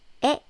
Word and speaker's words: 의: But when it's used as a possessive marking particle, the pronunciation is 에, as in 나의.